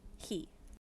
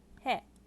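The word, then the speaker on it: へ: fu next we have he which actually isn't fully pronounced like he the h is semi silent in this it's um it's mostly the e sound that you hear in this hiragana but it's a very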